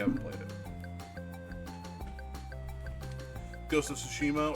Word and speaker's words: Tsushima: played it ghost of tsushima or sushima tsushima i think that's how you say it uh this is one